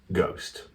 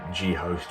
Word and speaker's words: g/host: This little retrospective on the first album, or first project I did under the Kleptos name, Ghost. I mean, you can pronounce it G-Host or G-Host, but it's pronounced Ghost, but I mean, death